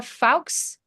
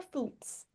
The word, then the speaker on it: Fultz: We have Fawkes. Add spotlight. My maiden name is, and so that's why you're pronouncing it like that. It's Fultz.